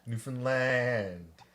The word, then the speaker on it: Newfoundland: land you been finland but don't say it like that newfoundland well i sold asset